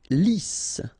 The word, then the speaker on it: lisse: Lisse. Double S here, so it's really a strong S. Lisse. Okay, don't insist on the final E.